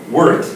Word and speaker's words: wort: It's been around for years and years, but it's basically boiled wort. It's O-R-T, but it's pronounced wort. Wort. Like an E. Like wort, like the Wort. little mole.